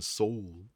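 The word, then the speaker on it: Sol: Perhaps the witch will know where to find the soul. I mean, isn't Mr. Soul in Rex Syndrome right now? Mr. Pumat Soul? Soul. Soul. There we go. It's pronounced soul.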